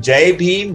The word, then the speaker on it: Jai Bhim: so the answer from Jai beam rhyming with high beam okay so don't put